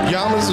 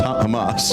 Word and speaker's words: Hamas: Yamas is the Who the is Yamas? That's That's pronounced Hamas.